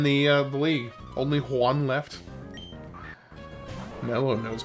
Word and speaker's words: Juan: I mean, it's pronounced in in Spanish Juan is pronounced Juan.